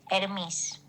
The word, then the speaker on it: Hermes: So, um, the typewriter's brand in Greek, as in the way that we say the Greek god's name, would be Hermes.